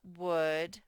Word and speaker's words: would: have our silent o then we have our u that makes the uh sound and then our l that's silent and then our d